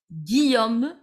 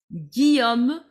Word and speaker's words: Guillaume: The pronunciation of this name is Guillaume, double L silent. Guillaume, a very typical French name it is.